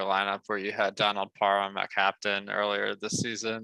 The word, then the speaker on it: Parham: I've always called him Parham. So now I've learned he corrected us. It's Parham. I'm glad that he put out that clarification because we could have gone years without realizing the correct pronunciation.